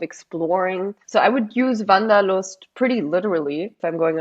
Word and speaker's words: Wanderlust: Because I think this is the closest word to it in English, and that's… people in English might pronounce it wander-lust but Wanderlust, right?